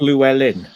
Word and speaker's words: Llewellyn: It's pronounced Llewellyn.